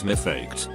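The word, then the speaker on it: מפקד: Now what Americans call drill instructors or drill sergeants in Hebrew is mifaked, which is pronounced very similarly to my duckhead.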